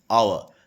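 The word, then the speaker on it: hour: क्योंकि यहाँ पर आवर, इसका ये हावर नहीं होगा, इसका प्रोनाउंसिएशन क्या होगा? आवर। तो तो आओ यानी आ का साउंड आ रहा है, आ का, यहाँ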